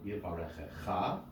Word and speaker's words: Yivarechecha: There are no afterbeat notes because that's the last syllable. So the accented syllable is indeed the last syllable. So Yivarechecha, right?